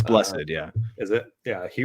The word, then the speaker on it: Blessed: Yeah, and then there's Brian Blessed, or I don't know if his last name's pronounced Blessed. It's Blessed, yeah.